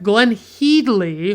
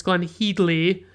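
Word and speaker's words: Glenne Headly: And then we have Glenn Heedley, which by the way is apparently how you pronounce her name. It's Glenn Heedley, and she plays Iris Holland, Mr.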